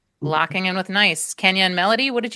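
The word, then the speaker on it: gneiss: It's pronounced that way but doesn't look that way. Yeah. G N E I S S. Yep. Locking in with nice.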